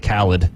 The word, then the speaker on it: Khaled: Well, it's also DJ Khaled, too, not DJ Khaled.